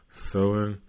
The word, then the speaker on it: Samhain: Halloween's origins date back to an ancient Celtic hunky shit festival of Samhain, pronounced Samhain.